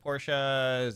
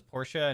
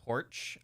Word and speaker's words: Porsche: Porsche pronounced as Porsche, not porch. I don't say porch.